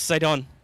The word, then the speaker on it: Sidon: Prince Sidon. Which rhymes with Gaston, so there is absolutely a folk song about that.